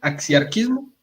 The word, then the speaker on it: axiarquismo: ¿Sí o no se pronuncia así? axiarquismo. Muy bien.